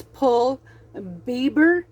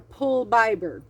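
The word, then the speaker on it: pul biber: its name is and I don't know if I'm going to say this right but it's going to be as close as I can pronounce it but it's pull Bieber or pull bber p l b i b e r it is aapo pepper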